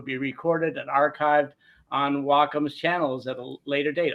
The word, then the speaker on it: Wacom: of you who are still wondering how to pronounce Wacom it's w as in W the ger Japanese word for Harmony and then Comm is a derivative of computer so it's Wacom not wcom or whack so just remember that that's a